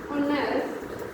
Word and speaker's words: honest: H is silent here, and what is the sound here? Honest. So we will use here and.